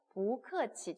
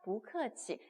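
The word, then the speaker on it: 不客气: 不客气 뒤에 사성이 왔으니까 부가 뿌가 아니라 그죠? 부 이렇게 읽었죠? 不客气谢谢 라고 얘기했을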